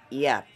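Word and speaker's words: yacht: comb next we have yat y y a c h t a medium siiz sail bow equipped used for racing or cruising yet yet why a c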